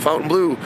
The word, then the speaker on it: Fontainebleau: in front of the Fontaine Blue the fountain blue some people pronounce it one way I pronounce it Fountain Blue that's basically uh the